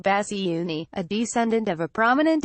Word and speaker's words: Bassiouni: cancer his family said Mr Basu knee pronounced bassy Unni a descendant of a